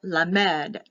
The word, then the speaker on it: Lamed: or k h the next one is l lamed lamed for l l-a-m-e-d verse 89 that group